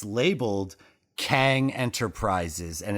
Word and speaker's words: Kang: tower but it's labeled kang enterprises and it's spelled q-e-n-g yes but it's pronounced kang there's but there's two